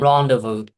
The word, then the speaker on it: rendezvous: Rendezvous.